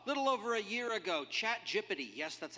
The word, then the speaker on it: ChatGPT: So, little over a year ago, ChatGPT, yes, that's how it's pronounced, burst onto the scene and changed a whole bunch of everything forever.